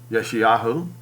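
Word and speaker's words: Yeshayahu: and yahushua tells isaiah or yeshiyahu which is how you say his name look jehovah's hand is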